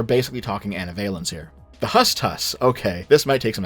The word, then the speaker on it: HSTS: The second is the homosexual transsexual or the HSTS pronounced as hust hus in the meme.